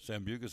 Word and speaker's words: Sambucus: Did I say Sambucus? Did I say it right? Yep. Sambucus elderberry gummies, full of vitamin C and zinc to build up the immune system.